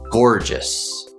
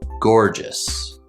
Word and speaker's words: gorgeous: this word is pronounced gorgeous gorgeous so we have two syllables gore and just the stress is on the first syllable gorgeous the first syllable